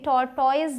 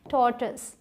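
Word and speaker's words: tortoise: पहुंचाना चाहती हूं की इसे तोड़तोइज नहीं बोलते इसे बोलते हैं थॉट्स क्या जल्दी से बोलना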